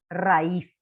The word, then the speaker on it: raíz: Ra, acento en la I, ¿sí? Raíz.